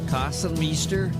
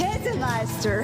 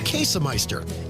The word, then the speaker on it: Käsemeister: Kassenmeister, Kassenmaster, Kassenmeister. It's Käsemeister. Käsemeister.